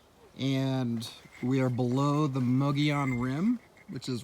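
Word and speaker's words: Mogollon: is right up there my teacher in school calls it the mogul oh that teacher would be incorrect it is a difficult word to pronounce it but so the the muggy on rim is like a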